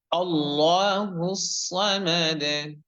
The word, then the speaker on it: الله الصمد: আয়াতটি রয়েছে সেটা হচ্ছে আল্লাহুস সামাদ। আল্লাহুস, আল্লাহুস, হ্যাঁ, আল্লাহ হবে না, আল্লাহ বলতে হবে, আল্লাহ বলা যাবে না। আল্লাহ হুস, হুস এখানে সদ অক্ষরের উচ্চারণ শেষ সহ মোটা করে বলতে হবে সুন্দর করে।